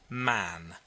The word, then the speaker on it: Mahon: white long beard and his name was mahon but he insisted that it should be pronounced man he was well connected